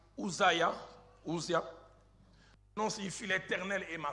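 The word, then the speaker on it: עֻזִּיָּה: La première information, c'est que Ozias, de sa prononciation hébraïque Uzia, non, signifie l'Éternel est ma force.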